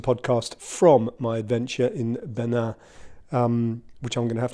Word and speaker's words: Bénin: So me, I, singular, am flying to the Tour de Bénin, or Benin, I should say, to give it its French pronunciation, which I have been